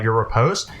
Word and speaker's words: riposte: And the second one, he actually loses control of his blade, like coming off of your riposte. And Shane, confirm? Riposte? That's how you pronounce that word, yes.